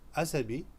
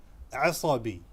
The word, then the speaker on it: عصبي: People will understand you if you say asabi, but the correct pronunciation is asabi.